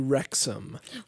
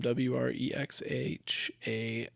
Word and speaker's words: Wrexham: We are watching a television program, docuseries on Hulu called Welcome to Wrexham.